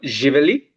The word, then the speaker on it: Živeli: question to you is one is how do you say cheers in Serbian language? So it's called Živeli. Okay, Živali, yeah.